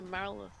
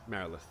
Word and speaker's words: Marilith: I thought it was a Marilyn. It is Marilith.